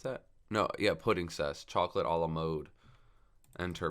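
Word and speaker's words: Puddingcess: And then he's going to overlay into the Petting Cess. Is that how you pronounce that? No, yeah, Pudding Cess.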